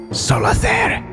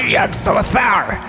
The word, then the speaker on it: Yug Solather: Solather. You one syllable off. Yug Solather.